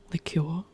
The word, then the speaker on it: liqueur: Liqueur. I guess in this case you would pronounce it liqueur.